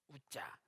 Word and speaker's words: 우자: 우자 히브리어는 우자, 울자 말고 우자, 우자.